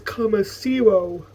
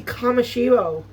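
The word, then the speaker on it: Kamoshiro: It's believed as Kamasiro. That's that's the that's not even a name. It's obviously Kamashiro.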